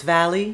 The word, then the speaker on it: Valli: your name is that in France I guess like in Germany they often pronounce the v as a w so it's like for